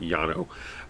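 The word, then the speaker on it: Llano: granite this is the yano granite in texas um l-l-a-n-o uh which in spanish would be pronounced yano uh with my horrible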